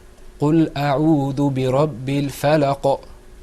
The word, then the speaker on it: الفلق: First of all, if you noticed when I was reading, I said, قُلْ أَعُوذُ بِرَبِّ الْفَلَقِ. Did you hear that sound at the end?